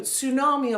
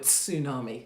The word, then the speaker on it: tsunami: Also, I like saying the word tsunami because you can pronounce the T.